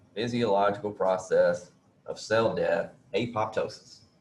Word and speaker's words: apoptosis: process of cell death, apoptosis. Remember I told you I was going to change my pronunciation of that to apop.